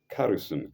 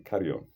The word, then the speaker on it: carrion: is that it becomes carrison. Carrison is spelled Carrrion, not carrison. Carrion. Well, it didn't sound well. It didn't sound well to me too. It becomes carrion, Carrion.